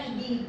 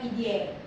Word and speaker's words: Pidie: PID bacanya PID bukan Pidie.